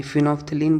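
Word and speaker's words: phenolphthalein: ये फिनोफ्थलीन बोलते हैं। पीसाइलेंट होता है।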